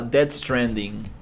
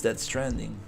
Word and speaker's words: Death Stranding: I'm I'm pronouncing that totally wrong, but uh I think it's Death Stranding. Let let me double check. Yeah.